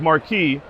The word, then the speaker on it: Marqii: company our name was Marky m-a-r-q-y it was supposed to be pronounced Marquis and he said to